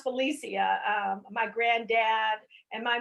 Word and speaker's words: Felicia: cyberspace world um actually my name is pronounced felicia it's four syllables i get a lot